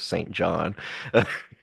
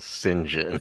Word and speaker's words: St. John: Who knew that you pronounced the name Saint John as Sinjin?